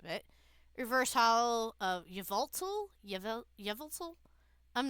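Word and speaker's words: Yveltal: Yevel. I'm not I used to call it yeatale, but there is a L there, so I'm just gonna drop my cards.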